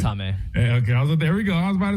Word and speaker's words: Jaime: We're going Jaime or are we going Jamie? It's Jaime. It's Jaime.